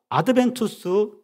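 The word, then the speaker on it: Adventus: 푸토룸과 아드벤투스 두 단어로 나뉘지는데 푸토룸은 예측 가능한 미래.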